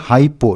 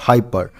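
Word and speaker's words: hypothyroidism: हाइपो थायराइड जम देखिए हमने यहां पे प्रोनाउंस किया हाइपो नॉट हाइपर हाइपर का मतलब हो गया ज्यादा और हाइपो का मतलब हो गया लो मतलब कम यह एक ऐसा कंडीशन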